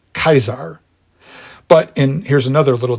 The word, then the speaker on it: Caesar: actually it wasn't pronounced Caesar but I think it will be too jarring after us being so accustomed to the name Caesar to start pronouncing it in classical Latin as kaisar but in here's another